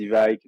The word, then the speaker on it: Evike: Il y a il y a la vraie prononciation, ce serait Ivic, mais bon, même les Américains, il y en a qui disent Ivik, d'autres Ivic.